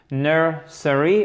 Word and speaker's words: nursery: Nursery. Nursery school. And the stress is on the first part, which is very important.